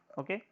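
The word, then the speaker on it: ø: कैसे रिप्रेजेंट करते हैं हम लोग, इस फाई जैसे वर्ड से डिफाइन करते हैं, वैसे इसको डेनिस लेटर बोलते हैं, इसको प्रोनाउंस करते हैं ओ, ठीक है।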